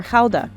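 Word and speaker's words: Gouda: half of it is good or Hala as it's pronounced here Fran ctin is a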